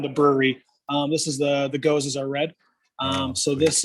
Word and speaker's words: gose: I mean, that's a great name too, because then you don't mispronounce Goza. No, right. You know how it's supposed to be pronounced. So that's awesome. Exactly. Not Goze, it's Goza.